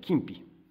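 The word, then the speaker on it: 金肥: 油かす、これ金ぴと読む、金ぴ、俵物、OK、いい。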